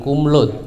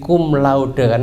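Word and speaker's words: cum laude: Al Ula jadi cuma cumlaude bacanya bukan kumlut tapi kumlaude bahasa Latin yang laut nya itu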